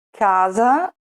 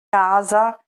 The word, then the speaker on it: casa: lettera doppia cambia significato Per esempio vediamo cane l'animale domestico e diverso da Canne le canne di bambù casa e diverso da cassa casa cassa note notte Polo pollo sera